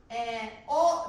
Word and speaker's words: を: おですけれども、これ W で書くとおになります。発音は、おだけです。